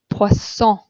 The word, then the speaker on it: poisson: But if you have two S's in the middle of a word, in French, you pronounce it like an S. Okay, here we see the French word for fish, poisson, poisson.